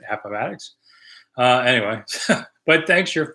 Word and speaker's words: Appomattox: money where you go could I please correctly pronounce Appomattox that's the way I think it's said Appomattox uh anyway but thanks